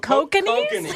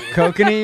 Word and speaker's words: Kokanee: Oh, Kokanese? Kokanee, you mean? Kokani, whatever. I don't know. Is that how you pronounce it? Yeah, kokanee. You obviously don't drink that much.